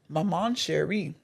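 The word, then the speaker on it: Maman Chérie: This is called Maman Cherie. That's just how they say it too, baby. Maman Cherie.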